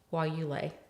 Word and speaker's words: guayule: say that we were working somebody was studying while you lay.